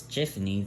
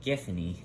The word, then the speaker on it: Giffany: the ground this allows tiffany the work hold on giffany that yeah that's how i pronounce it this allows giftnee to have more control